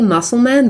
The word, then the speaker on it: Mussulman: They've written it in the 19th century way. It's very odd. I never know how to say it out loud. So Mussulman. So technically Mussulman, but we all know that it means Muslim.